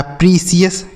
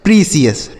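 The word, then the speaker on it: precious: तो पी आर ए को पढ़ेंगे प्री और सी आई ओ यू एस को पढ़ेंगे सीएस। तो यह लिखा है प्रीसियस। क्या लिखा गया मेरे भाई? प्रीसीयस।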